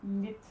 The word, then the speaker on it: lidt: And I wrote here that this is how we say lit, but you have to be careful because Danish people will read this and think, oh, lit. But it's not lit, it's lit.